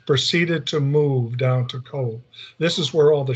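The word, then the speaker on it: Cobh: This is Cove. It's spelled, is even though it shows C-O-B, and it's Cove, C-O-V-E.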